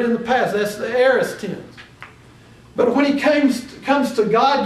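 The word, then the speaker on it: aorist: I planted he used what we call the aist tense now we we probably won't get very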